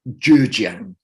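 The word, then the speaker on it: 浙江: And I think, I'll bet there's a few people that know how to pronounce Chinese listening, but I think it's pronounced Zhejiang today.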